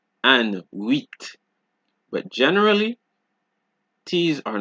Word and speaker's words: huit: However, there are a few exceptions, just a few, such as sud, cap, slip, fils, bus, brut, ouest, huit.